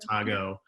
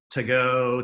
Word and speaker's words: Mojo Tago: It's taco to go, Tago, get it, so that's why we came up with Tago. And people say to go, Tago. They always ask me what's the right way to say it, and I just say I don't care.